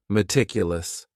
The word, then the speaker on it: meticulous: The next word is meticulous, and this word has 4 syllables, and the stress is on that second syllable, meticulous, meticulous. That first syllable also has that schwa, that a sound, that reduced vowel sound, meticulous.